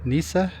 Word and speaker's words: Nyssa: Nyssa. I don't know if you know how to pronounce that. N Y S S A Nyssa, Oregon. So, right here, we're staying in Oregon.